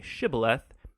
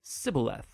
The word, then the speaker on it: shibboleth: wanted to cross to pronounce the hebrew word shibboleth it turned out that the ephraimites had grown up pronouncing that word differently so instead of saying shibboleth they would say sybileth when that happened the gili knight guard would